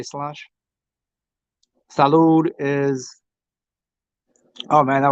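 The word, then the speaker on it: sláinte: Ah that's um salanche salanche is that how they say it s l a i n t they say slange salude is oh man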